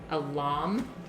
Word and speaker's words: lame: So you can use a serrated knife is a really good thing for this, but I also have something called a lame, is how you say it, and that is the razor that bakers use to put the scores in their bread.